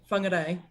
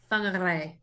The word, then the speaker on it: Whangarei: Skaz's excuse is that she can't roll her tongue, so she can't roll her R's. So how do you say it again? Whangarei. Whangarei. Whangarei. Yeah. Whangarei.